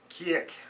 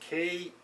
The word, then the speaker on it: Kriek: So this is the Lindeman's Kriek, I believe it's pronounced Kriek.